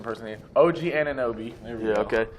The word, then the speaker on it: Anunoby: pronunciation person here. OG Anunoby.